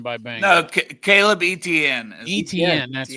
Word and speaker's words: Etienne: Caleb Laddie. Anthony. BYU football signed by Bank. No, Caleb Etienne. Etienne, that's right.